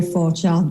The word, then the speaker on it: Forgeard: that i butcher so i will let her pronounce that for you as well so yes my name is for child but is fine okay okay i tried